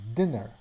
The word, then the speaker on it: dinner: So this is why diner sounds different than dinner, where dinner has a short I or a din, and then here it's a long I, so and this one is diner.